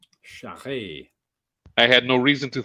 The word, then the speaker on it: Charest: Shire, it is in the pronouncing. Yeah. I've been saying that name wrong for years. Yeah, I always called him Travis Charest. Yeah, I that's used what to. I call. Yeah. I used to until I found out it was French Canadian.